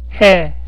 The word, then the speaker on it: 해: この文字は H の音です。そうなので、この文字はへと読みます。へは韓国語で日。